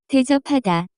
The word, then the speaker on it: 대접하다: The pronunciation of this word is closer to. 대접하다.